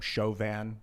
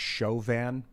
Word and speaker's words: Chauvin: I heard that a French guy, or a guy with the last name Chauvin, contacted me. He said that the name is pronounced Chauvin.